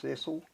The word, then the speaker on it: Cecil: My name is Cecil K. Mm-hmm. Could you spell all of it? And I can spell it, I think. Yeah. C-C-I-L, Cecil, pronounced Cecil.